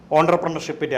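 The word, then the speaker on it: entrepreneurship: ഓൺട്രപ്രണർഷിപ്പിൻ്റെ ആവശ്യകതയാണ്. എൻ്റർപ്രണർഷിപ്പ് എന്ന് എഴുതുന്നെങ്കിലും കറക്റ്റ് ഉച്ചാരണം ഓൺട്രപ്രണർഷിപ്പ് എന്നാണ്.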